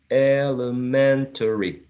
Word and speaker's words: elementary: The first one in the second slide may be pronounced using 5 syllables or 4. Using 5 would be elementary, elementary.